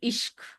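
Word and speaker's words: aşk: When the word in Turkey, the title of the book is actually it's ASK, but I think it's pronounced like ishq.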